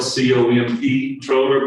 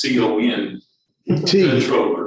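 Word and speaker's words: comptroller: So all of that said, they're definitely involved in, I know it's spelled COMP controller, but I think it's CON controller, because they basically control the purse strings, of what ultimately we depend on to raise the taxes.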